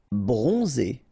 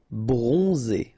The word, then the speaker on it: bronzé: Bronzé, so O-N, on, and then Z, it's really pronounced like Z. Bronzé, bronzé.